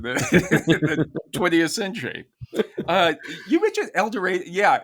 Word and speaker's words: El Dorado: It is El Dorado. It's not El Dorado. They changed it.